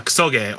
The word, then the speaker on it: kusoge: It comes from kusogi. Well, yeah, kusoge, or just kuso. Yeah, so yeah, you put the emphasis on the second syllable.